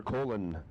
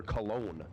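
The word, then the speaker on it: Colón: Oscar Colon, 605 the dial. Actually, Oscar Cologne, I should pronounce that properly.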